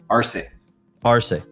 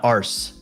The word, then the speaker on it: Arce: once and for all ar ar yeah okay not ARS not ARS not ARS definitely not ARS r r so yes